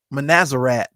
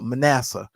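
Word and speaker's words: Manasseh: that money for uh manazer uh oh wait a minute I didn't say his name right uh Manassa uh I call him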